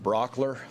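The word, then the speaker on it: Brauchler: questions George good morning my name is George Brock ler last name is spelled BR au CHL ER I'm the district attorney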